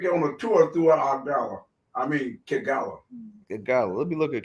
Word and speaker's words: Kigali: Kagala, how you pronounce it? The major city in Kigali? Kigali? Yeah, that's it, Kigali.